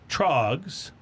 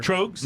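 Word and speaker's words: Tröegs: Trogs, yeah. So good. I'm never good with these. It's Troegs, right? Yeah, Troegs, which is kind of like a troll or an elf name.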